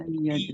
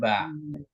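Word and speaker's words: بِ: Bi. Nah, ini bacanya B ya. Jadi Bu Su'aibah ini dibacanya B bukan ba.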